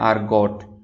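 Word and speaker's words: argot: इसमें जो है अमेरिकन प्रोनाउंसिएशन में ये टी साइलेंट नहीं पढ़ा जाएगा, अमेरिकन प्रोनाउंसिएशन है आर्गोट। However the British pronunciation is आर्गो, वहाँ पे टी जो है वो साइलेंट है, वहाँ पे टी नहीं पढ़ा जाता।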